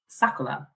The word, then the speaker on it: Sakura: which means cherry blossom but Japanese pronounce their RS as L's so actually the real pronunciation is sakula so I guess my real name is sakula but I say Sakura whatever works